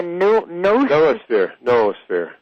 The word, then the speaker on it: noosphere: But the difference between the technosphere, the biosphere, and do you pronounce it the noosphere?